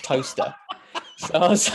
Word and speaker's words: Towcester: It's rife because you got right just outside Silverstone, you've got Toaster, but it's spelled Towcester.